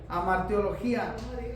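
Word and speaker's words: hamartiología: Amartiología es pecadología. Esa es la palabra. El estudio del pecado se le dice amartiología y lleva H al inicio. Es HAMARTIOLOGIA. Entonces, amartiología, que es el estudio del pecado, correcto.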